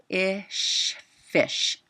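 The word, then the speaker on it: ghoti: You pronounce the GH as in the word rough. So remember that sound, GH as in rough. The O is pronounced as it is in women, women, and the TI is pronounced as it is in nation. So GH is in rough, O as in women, and TI as in nation.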